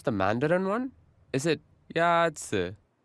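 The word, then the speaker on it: 鸭子: 鸭子 Is pronounced with a first tone. In Mandarin, there are 4 tones, which are essential to distinguish the meaning of words. The first tone is a high, level tone.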